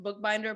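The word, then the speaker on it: Boekbinder: this last name because it's pronounced book binder but it is not spelled book it's not spelled like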